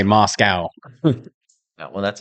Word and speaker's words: Moscow: How do you say Moscow? It's Moscow.